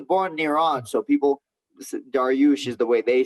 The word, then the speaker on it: Dariush: Well, as you speak to Assyrians, they'll be like, "It's Dariush." They don't even ask me. Yeah, I was born in Iran, so people Dariush is the way they say it because they had a king named Dariush.